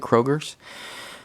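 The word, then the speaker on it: Cragar: That's how you pronounce it, Kroger's.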